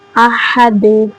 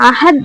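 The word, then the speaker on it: أحد: அதனால அசைவு கொடுத்து ஓதணும் அஹத் சொல்லக்கூடாது அஹது அஹது அப்படின்னு ஒரு அசைவு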